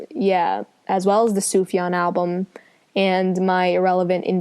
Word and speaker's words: Sufjan: you pronounce it yeah Sufjan it's like soup and then yon no never no Sookie